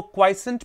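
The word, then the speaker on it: quiescent: क्वाइसेंट, इसको क्वाइसेंट पढ़ा जाता है, जैसे क्यू यू आई ई टी क्वाइट होता है, शांतिपूर्वक, उसी का डेरिवेटिव है।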